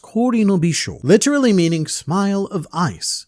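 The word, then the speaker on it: 氷の微笑: The kanji portion is pronounced Kori no Bisho, literally meaning smile of ice, and this is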